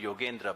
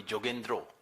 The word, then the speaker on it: Yogendra: So he would not, like Bengalis do not call me Yogendra, Bengalis call me Jogendro. And the Punjabi pronunciation of